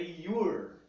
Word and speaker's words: you're: Como que pronuncia isso? É your. Your.